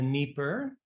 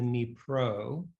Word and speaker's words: Dnipro: It was then titled On the Dnieper, and he's since changed that name to On the Dnipro to reflect its Ukrainian spelling and pronunciation.